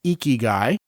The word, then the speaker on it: ikigai: called eky guy which on the surface to the English-speaking sensibility sounds like a gross dude but the word is actually spelled i k i g a a I pronounced eeky guy and the Oxford English